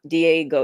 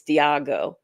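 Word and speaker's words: Diageo: It's not Diego, it's Diago.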